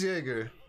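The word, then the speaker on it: Jäger: been touching this bench yeah i said it wrong all right yeah it is jager so yeah i've been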